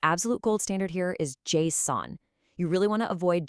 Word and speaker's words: JSON: The absolute gold standard here is JSON. You really want to avoid just-on or jason, because that can cause some momentary confusion in a rapid-fire meeting.